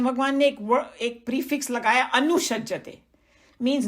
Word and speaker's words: अनुसज्जते: It is from the verse, and the pronunciation is anusajjate.